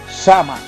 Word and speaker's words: Samhain: dios de la muerte shanghai pronunciado sama así a quienes serían